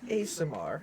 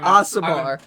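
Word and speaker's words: Aasimar: and you are an ASMR, as we are learning Yeah, the correct yeah. pronunciation. I'm Asamar.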